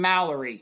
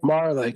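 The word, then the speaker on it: Majerle: in Phoenix one time with your guy Dan Mallory. Is that how you say his name? Marley.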